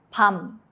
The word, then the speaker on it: 밤: 미음 is M. Example, 밤, night. Keep your lips closed to end the sound.